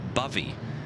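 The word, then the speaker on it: Bovey: bovie Tracy endeaven but it's actually pronounced Buffy like it rhymes with the word love lovey says Bobby Tracy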